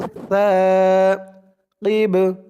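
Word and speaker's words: ثاقب: এখানে অক্ফা করার কারণে বার উপরে পেশটা সাকিন হয়ে গেছে। কফ দিয়ে বা দুললে যেমন উচ্চারণ হয় তেমন উচ্চারণ হবে। কিব, বাটা কলকলার হরফ হয়ে গেছে, ধাক্কা দিয়ে পড়তে হবে।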